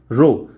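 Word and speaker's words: ρ: Term यहाँ पर जो आप यूज़ करने जा रहे हैं ये है रो।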